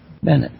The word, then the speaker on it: Bennett: have Bennett who is a did I pronounce that right Bennett yeah who is um has written a